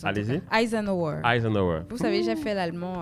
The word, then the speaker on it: Eisenhower: C'est comme ça que moi je prononce. Allez-y. Eisenhower.